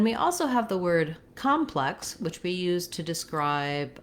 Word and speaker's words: complex: So if I say plex, complex, I'm more likely to be able to focus on that stressed syllable and keep that first syllable short and reduced. If I start at the beginning, I might accidentally say calm in that word complex instead of reducing that vowel sound.